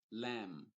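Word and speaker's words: lamb: Cordero vamos a decir lam sin la B Por cierto no se pronuncia ya sea que haya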